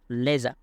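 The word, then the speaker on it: leisure: তাহলে ডোরিং হার লেজার, লেজার এটা সঠিক উচ্চারণ হবে লেজার, লেজার।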